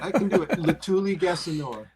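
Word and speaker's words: Letuligasenoa: Latuli Gassanoa. I have to say it like in a syllable at a time.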